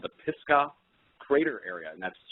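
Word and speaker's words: Pisgah: and I found out it was called the pisca crater area and that's spelled p i s g ah and it's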